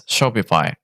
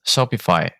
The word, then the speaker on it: Shopify: way to pronounce Shopify where the I is pronounced like the i in high so it's Shopify to make it even